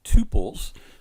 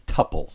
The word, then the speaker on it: tuples: another type of data collection in Python called tuples, or some people refer to these as tuples, and either pronunciation is acceptable, tuples or tuples.